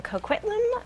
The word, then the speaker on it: Coquitlam: on the webcam from coquitlam british columbia i'm glad you said that i know barely got it out actually did she say it right howie yeah it was perfect coke right yeah cool that's